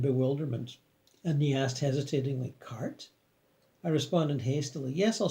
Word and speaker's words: Kartika: i repeated with some exasperation my name is kartika not follow i saw his eyes widen and bewilderment and the asked hesitatingly cart i responded hastily yes I'll spell it for